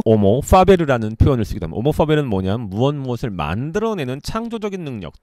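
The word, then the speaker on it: homo faber: 사실은 호모 파베르가 아니고 오모 파베르입니다. H가 묵음이라서 라틴어에서는. 그래서 오모 파베르의 파베르는 뭡니까?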